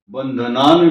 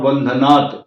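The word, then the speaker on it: बन्धनात्: लेकिन आप नॉर्मल अगर त्र्यंबकम यजामहे सुगंध पुष्टि वर्धनम उगम बंधनान मृत्य मुखीतात बंधनान भी बोल सकते हैं और बंधनात पंचमी विभक्ति है यहां पर तो करेक्शन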